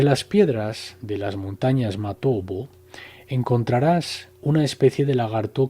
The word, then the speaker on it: Matobo: de las piedras redondas, Matobo, pronunciado erróneamente Matopo, en Zimbabue.